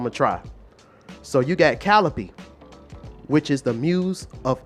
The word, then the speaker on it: Calliope: So you got Calliope, which is the muse of epic poetry.